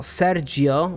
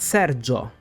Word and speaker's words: Sergio: we've talked about for we don't emphasize the I sound it's just there to turn the g into a j sound but that I is silent so it's not Sergio but Serio same thing goes for